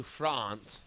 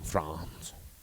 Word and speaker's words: Frantz: do you prefer I pronounce it like the country France only because I want